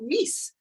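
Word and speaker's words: מיאוס: But in Yiddish, it's pronounced mis.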